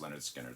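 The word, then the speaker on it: Lynyrd Skynyrd: man it was from the first pronounced Leonard skinnard so I have the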